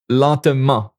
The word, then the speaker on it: lentement: Il parle lentement. Oh, this is an ENT here, but it's pronounced because it's an adverb. It adds to the verb. It's not a verb.